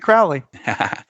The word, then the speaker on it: Crowley: So he pronounces it Crowley.